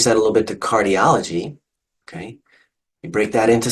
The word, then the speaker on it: cardiology: If we change that a little bit to cardiology, okay, you break that into syllables, cardiology, count backwards, the ultimate, penult, antepenult. It's the O or the aw sound that gets the emphasis. Cardiology, cardiology.